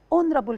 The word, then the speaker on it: honorable: so when we say honorable person we pronounce o so we use n honorable curse and o next person so we use o we don't pronounce the letter h okay again when we